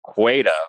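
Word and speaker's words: Qη: But what he calls what I what I've pronounced qua which is Q followed by the Greek um short vowel eta which I that's why I call it qua uh or qua um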